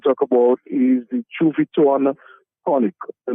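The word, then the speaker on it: Juviton: that I want to talk about is the chu viton conic the name is Chu viton and that is spelled as j u v i t o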